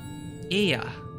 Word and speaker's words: Ea: When the vibration of vocal folds was still required to convey our thoughts and intention, Ea, I believe, was the pronunciation used when referring to our people.